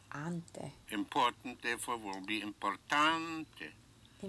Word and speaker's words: importante: Important, therefore, will be importante. So Importante.